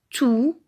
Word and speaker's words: tous: donc on va dire tous les jours tout avec s à la fin mais attention on ne prononce pas le s dernier exemple toutes ces